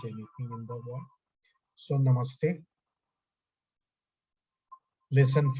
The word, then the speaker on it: Namaste: Namaste is pronounced Namaste, a composite of two Sanskrit words, Nama and Ste.